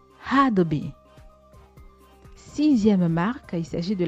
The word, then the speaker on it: Adobe: Et contrairement à ce qu'on croit, la célèbre marque ne se prononce pas Adobe, mais plutôt Adobe. Adobe.